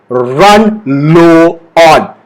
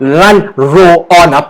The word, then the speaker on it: run low on: Not run roll on. Please don't say that. Okay, so run low on. Okay, run low on. The stress is on the word low.